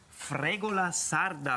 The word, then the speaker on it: fregola sarda: gamba Calamaretti Füllung und Tomaten fregola Sarda Ragu habe ich das richtig ausgesprochen das hast Du perfekt ausgesprochen nee nee also perfekttig